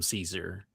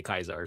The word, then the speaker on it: Caesar: In the game, everybody outside of that faction calls him Caesar. Mhm. Well, And only within true to Kaiser, only within like the faction do they say Kaiser.